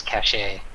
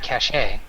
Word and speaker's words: cache: we have in this cache oh it's like they're looking through these were the items that we F uh you don't pronounce the E shut up woman well but you can have cache you can well cache